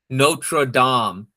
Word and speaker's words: Notre Dame: But say Notre Dame like a normal human being. Notre Dame. That's how it's pronounced.